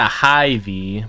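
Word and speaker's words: Hy-Vee: the adhd yeah it's it's closer to high v but it's spelled h y v e e it's pretty good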